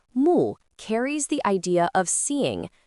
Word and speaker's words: 目: When you look at these examples, you can notice how mu carries the idea of seeing, viewing, or focusing on something.